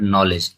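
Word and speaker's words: knowledge: Question number 27, the silent letter in the word नॉलेज, नॉलेज का जो silent word है वो क्या है, तो के है, ठीक है।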